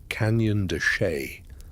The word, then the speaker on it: Canyon de Chelly: It is pronounced roughly Canyon de Chelly.